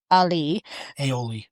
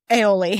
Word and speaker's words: aioli: And suddenly we've got the brios buns, truffle alioli. Aioli.